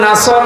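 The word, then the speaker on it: نصر: এখানে সোয়াদ আছে, নাসর মানে সাহায্য, আর নুন সিন র নাসর মানে ঈগল পাখি। আপনি যদি মুখটা গোল করে শুদ্ধ করে উচ্চারণ না করেন, অর্থ আকাশ পাতাল পাল্টিয়ে যাবে।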